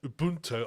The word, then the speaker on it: Ubuntu: I say I just love the way you just pronounced Ubuntu there Ubunto I thought that was wonderful just put you sound South African if that's where it come from you pronounce it like how it did the thing is it